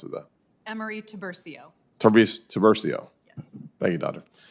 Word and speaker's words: Emery-Tiburcio: How do you actually pronounce it, though? Emery-Tiburcio.